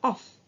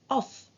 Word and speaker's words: off: as you can see we said off not of because we have a double f right okay about the